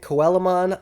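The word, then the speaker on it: Coelamon: don't know this uh Digimon is based off of the real life coelacanth um it is an ancient fish um I heard a lot of people pronouncing it koelamon uh maybe that's the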